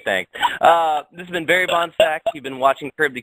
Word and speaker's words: Bohnsack: Yeah, Bohnsack.